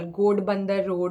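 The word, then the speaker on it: Ghodbunder Road: It was in what do you call, Godbandar Road or something. That's how the place is pronounced.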